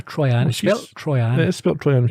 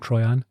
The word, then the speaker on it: Troian: Troian over and over is it trying to try and she says try and she should have used an e if she wanted it pronounced that way I'm calling it try on okay Sam improvising as